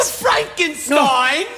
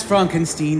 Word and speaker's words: Frankenstein: Frankenstein, you startled me. That's Frankenstein. My name is pronounced Frankenstein.